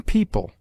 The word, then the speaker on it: people: EO is found in yeoman, where it is sounded as o short, and in people, where it is pronounced like ee.